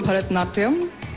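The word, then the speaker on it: Bharatanatyam: dance you know this was coming help me pronounce it and show us a few steps well it's called Bharatnatyam I can't do it in this gown because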